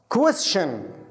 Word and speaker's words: question: السؤال عكسها الإجابة question. question الأربع الحروف هذه كلها تنطق شن.